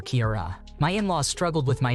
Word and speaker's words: Kiara: just over a year my name is Kiara it's pronounced like Kira nly not like Sierra or Kiara my in-laws struggled with